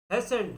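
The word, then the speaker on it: hasten: तो ये उसके बाद है हेसेंट, इसमें टी साइलेंट।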